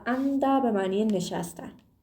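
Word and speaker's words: 앉다: اندا به معنی نشستن بچه‌ها انجده نه انجده گفتنشم خیلی سخته موقع تلفظ کردنش به این صورت زمانی که حالا به این حالتش حالت‌هایی که صرف میشه رو دوباره بهتون میگم ما این رو تلفظ می‌کنیم اندا اندا خب بریم سراغ مگدا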